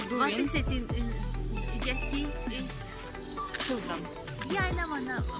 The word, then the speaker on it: дети: What is it in дети is... Children. Yeah, I know, but what is it in Russian? Дети. Дети. Huh? Дети. Дети. Ага, not дети. Дети. Дети. The stress on the first stress.